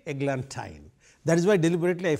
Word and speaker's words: eglantine: rang with wine so I have to say eglantine that is why deliberately I first mispronounced it to show you what rhyme scheme